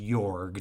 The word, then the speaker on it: Jorg: The main character is, I think it's supposed to be pronounced Jorg, Jorg, but sometimes Jorg is said. But let's say Jorg, and Lawrence has said,